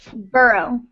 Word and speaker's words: borough: Borough? Burrow. Borough.